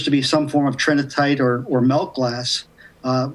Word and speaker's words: Trinitite: Tri tritinite. Trinitite, that's how you say it.